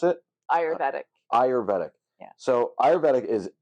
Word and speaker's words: Ayurvedic: How do you pronounce it? Ayurvedic.